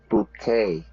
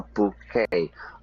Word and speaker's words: bouquet: Yeah, English is badly spoken French, but often in English, we don't there's a lot of French words and we pronounce it in the French style.